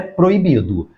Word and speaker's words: proibido: E a última palavra é proibido. Pela própria silabação da palavra proibido, nós conseguimos fazer a divisão silábica. Proibido. Veja que este O e este I formam hiato.